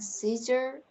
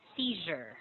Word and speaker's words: seizure: First word, C. Long E sound. Okay. Long E sound. Seizure. Seizure.